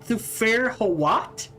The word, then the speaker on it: Thufir Hawat: Thufir Hawat?